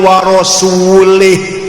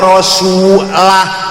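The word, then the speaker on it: رَسُولُهُ: Innallaha barium minal musyrikina waasulih. Salah. Allah tidak melindungi orang musyrik dan tidak melindungi rasulnya. Rasulullah salah. Yang benar bacanya innallaha barium minal musyrikina wa rasulah. Jangan lih.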